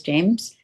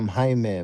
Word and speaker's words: Jaime: has joined in, James, or excuse me, Jam. How Hello. am I pronouncing that right? Yeah, in Spanish it's Jaime, Jaime, but Jaime. in English is Jamie.